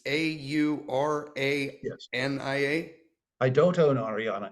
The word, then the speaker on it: Aurania: Maybe I'm not pronouncing it right. Aurania Resources. It's Aurania.